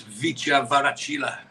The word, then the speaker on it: Kvaratskhelia: I spoke to someone about how to pronounce it, and apparently you don't pronounce the K. Oh. So it's Kvaratskhelia.